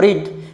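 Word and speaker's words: read: ইজ এবার যেটা verb পেয়েছিলাম রিড সেই ভার্বের থার্ড ফর্ম রেড বানান একই উচ্চারণ আলাদা। রিড রেড রেড।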